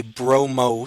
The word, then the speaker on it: bromo: What you do is you drop the INE in bromine, and you add the letter O. So what this actually is a bromo substituent. That's how formally it's supposed to be pronounced.